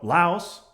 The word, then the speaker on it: Laos: So Laos rhymes with house.